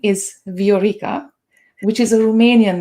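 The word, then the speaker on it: Viorica: in english and actually my legal name is veorica which is a romanian name and it means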